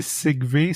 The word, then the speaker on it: Xich-Vê: Puis d'ailleurs, la première chose que tu me dis, mon nom c'est Sigve, ça s'écrit comme ça se prononce.